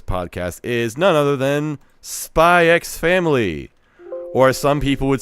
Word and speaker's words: Spy x Family: Nah, the X has to be there. Whoops, how do you pronounce this title? Ask Elon Musk. I've been coaxed into saying Spy Family, but I feel like it should be Spy X Family.